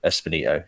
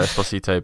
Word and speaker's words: Esposito: gonna go for uh giancarlo espinito just because he's like the big name in it you butchered that craig um i'm i'm gonna go for giancarlo esposito because they want him